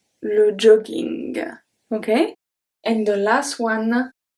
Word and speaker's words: jogging: When we have two G in the middle of a word, sometimes it's going to stay as a hard G. Let's see the example and then you will see why.